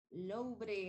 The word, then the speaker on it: Louvre: The Louvre, la R está pronunciada fuerte porque no está en inglés, sino que está en francés. Louvre, el Museo Louvre en France.